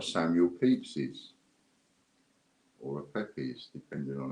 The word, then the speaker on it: Pepys: Next up, we've got a Samuel Pepys's, or a Pepys, depending on how you want to pronounce it.